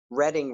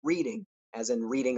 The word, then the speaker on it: Reading: In those days, we used to pronounce Reading Railroad as in reading a book. I didn't know there was a town by that name. I never even remotely considered that someday I would live there, that the people there would pronounce it Reading, different from the way we did, that the trains would